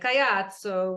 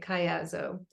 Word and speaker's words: Caiazzo: If we were in Italy, we'd say Caiazzo with the hand, but in the Americas, we say Caiazzo.